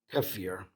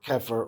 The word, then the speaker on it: kefir: with dinner and last this is kefir or kefir or however you like to pronounce it which is a fermented